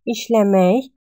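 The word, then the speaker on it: işləmək: Работать, ишлемей. Ишлемек пишем. Но произносим как ишлемей.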